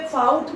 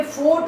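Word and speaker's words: fought: और इसे फाउट ना पढ़े, ये फोर्ट होता है। क्या होता है ये? फोर्ट। फाइट, फोर्ट, फोर्ट।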